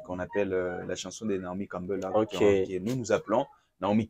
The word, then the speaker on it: Naomi Campbell: appelle la chanson de Naomi Campbell, là, que nous appelons Naomi Kembo. Naomi Kembo, voilà. La chanson, avec une mauvaise prononciation, on dit Naomi Kembo, voilà.